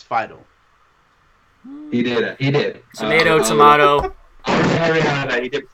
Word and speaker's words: Fiedel: I think you pronounced it wrong. It's Fidel.